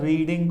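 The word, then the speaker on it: read: रीड का third form रेड, spelling will be the same as first person, second first V1 V2 past present सब में रीड, रेड, रेड। Spelling pronunciation will be changed but the spelling will रिमेन the same, रेड।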